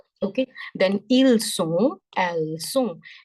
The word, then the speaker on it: ils sont: Okay, then ils sont, elles sont. S for making it plural, S for making it plural. Ils sont, elles sont. This T, no sound, no sound.